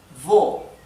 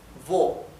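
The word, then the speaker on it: wo: Por ejemplo, la palabra vo. Vo significa dónde, vo. Pueden ver que la la w se pronuncia m.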